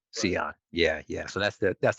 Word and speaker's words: Sean: i meet people um i tell them it's pronounced like leon with an s c on yeah yeah so that's